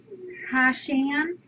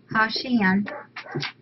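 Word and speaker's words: Hachan: It's Hashan. Yeah, Hashan and Bella. And for our catatary, it's Hashan. It's spelled H-A-T-C-H-A-N.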